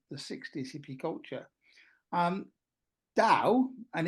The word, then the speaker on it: Tao: Um, Tao, and it's got a T and sometimes a D, but it is pronounced Tao, is translated as the